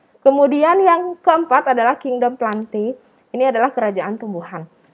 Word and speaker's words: plantae: Kemudian yang keempat adalah kingdom plantae. Ini adalah kerajaan tumbuhan. Tulisannya plantae tapi dibacanya plante. Itu tata cara bahasa Latin ya anak-anak.